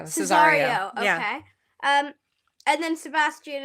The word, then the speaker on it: Cesario: And then like, Olivia runs out, and then she thinks Sebastian is, I don't know how to pronounce his name, Ceresio? Oh, Cesario. Cesario, Yeah.